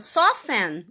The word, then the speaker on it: soften: Por exemplo, a palavra soften é listen, elas são faladas soften, é listen. Você não pronuncia o T, tá? Soften, que é suavizar em inglês, é listen, que é escutar em inglês. O T continua sendo mudo.